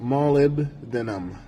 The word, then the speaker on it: molybdenum: It's pronounced molybdenum, but point in case being that it is found in many, many foods.